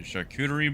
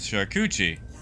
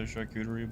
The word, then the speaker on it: charcuterie: those things like a charcuterie board and one day someone had horrendously mispronounced the word charcuterie is sharkuchi and I had no idea that that was not the way you say that until about two weeks